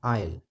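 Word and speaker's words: aisle: तो यहां पर यह जो एस है यह साइलेंट होता है। इसको बोलते हैं आयल।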